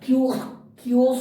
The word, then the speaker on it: chaos: अब यहाँ देखिए ये CHAOS, इसका प्रोनाउंसिएशन थोड़ा सा क्योस होता है, ठीक है ना।